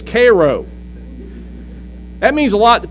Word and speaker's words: Cairo: sometimes you know when you're talking about Cairo no it's Koo that means a lot